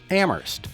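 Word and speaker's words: Amherst: probably know the slogan ammer Where only the H is silent it's not only a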